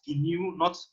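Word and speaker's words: GNU: um based on the new open source high sense and you will notice i i pronounce it as new in the slide will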